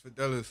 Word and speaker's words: Fidelis: just nah it's chill yeah so it's it's fidelis or ellis because some people can't pronounce for i don't know why it's